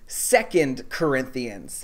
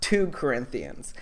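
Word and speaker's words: 2 Corinthians: to church would know it's pronounced second corinthians not two corinthians but what do i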